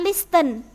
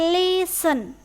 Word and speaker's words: listen: the radio ingat ya Ini bukan listen tapi listen tnya dibu dalam pengucapannya biasanya- kali yang cara membacanya adalah listen tapi itu adalah cara membaca yang salah yang benar adalah listen listen to the